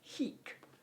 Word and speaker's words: hic: deal with here now the latin for here as in here is heek rhyming with squeak okay not to be confused